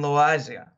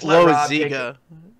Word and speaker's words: Loaisiga: When we're talking about starting pitching, the guy who took Chef's place in Trenton was Jonathan Loaisiga. And, he... That's Loaisiga. Sorry, Loaisiga.